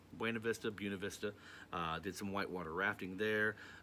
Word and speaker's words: Buena Vista: We ended up hitting Buena Vista, or Buena Vista, as apparently that's how the locals say it, I guess. Buena Vista.